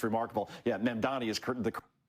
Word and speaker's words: Mamdani: here, especially when you have, how do you pronounce his name again? Sharpton called him Man-Dam-Annie. He added nine letters to the guy's name. It's remarkable. Yeah, Mamdani is the correct way, but again, if you're